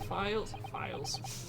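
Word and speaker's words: phial: No, it's file. It's file. Yeah, I know. Spelled like this, it's file. You're It's okay. file, isn't it? Yeah. The vial is also an acceptable... People often say vial. Yeah, but that's because sometimes it can be spelled with a V.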